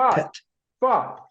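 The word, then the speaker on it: phat: word m monc word it's spelled p h a t but it's pronounced like pet f it's the end of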